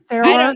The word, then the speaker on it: Sarah: Is Sarah pronounced like the AH in Utah? Oh, Sarah.